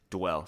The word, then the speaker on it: Duell: Duell. Sounds like Duell with a W, but it's spelled Duell.